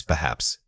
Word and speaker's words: perhaps: The word is perhaps Say it again. Perhaps. Notice that the first syllable sound, the schwa, is extremely subtle.